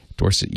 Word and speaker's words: Dorset: Question 4 is from Andrew Stevenson in Dorset, and he very kindly provides the pronunciation. Dorset, UK.